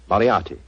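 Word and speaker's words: Moriarty: m o r i a r t y mariati Marti I shall remember that name I have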